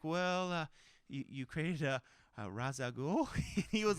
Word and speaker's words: Ra's al Ghul: yeah and I was like well you crazy Ra's al Ghul he was like very good you pronounce that correctly so then he talked about